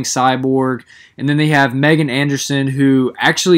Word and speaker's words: Megan: Megan Anderson I'm well aware that the Australian pronunciation is Meegan but I'm American so I'm gonna say Megan the UFC does not